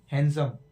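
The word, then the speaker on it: handsome: ये D silent है, हैंडसम नहीं है, ये हैंडसम।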